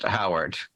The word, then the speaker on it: Herawd: So do you want to be known as Howard or Herod? I mean, it's spelled Herawd, but I believe it is still pronounced Howard.